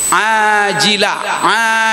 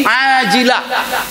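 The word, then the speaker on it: العاجلة: Tapi coba periksa imam apa bacanya banyak gak diperhatikannya makhraj ain ini ajilah maka dibacanya kalla bal tuhibbunal ajilah katanya sama maknanya itu. Coba itu beda makhraj saja bergeser makna diputarnya langit dengan bumi kebalik maknanya.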